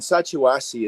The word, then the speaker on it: Sacha Wasi: But kids here, we the in Sacha Wasi is the tribal community. There are I'm two so rivers. I'm so glad you pronounced that before I had to.